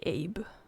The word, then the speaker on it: Abbe: Which I think you like in English it would be Abe. I just don't like how that sounds. Personally, I prefer the Swedish pronunciation, which is Abbe.